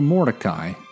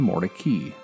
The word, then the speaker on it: Mordecai: around this time Moses also decided to change the pronunciation of his name he changed it for Mordecai to more tacky Jolene and Moses more